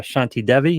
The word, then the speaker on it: Shanti Devi: have the pawlik twins and we have uh shanti devi is that pronounced right yes so are we assuming that